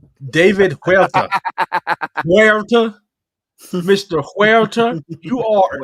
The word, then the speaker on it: Huerta: David Herta, right? David, you have the most redneck ass pronunciation of Spanish names. Huerta. David Huerta.